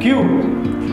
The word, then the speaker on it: queue: Wait ये wrong pronunciation है. What is the first word? BOOQUET. This is bouquet. Okay sir. QUEUE. Q.